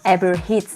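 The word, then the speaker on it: Herb Ritts: como o fotógrafo que todo mundo conhece, o dono de vários ensaios icônicos, que é o Eber Ritz. Eber Hits, eu não sei como pronuncia esse R.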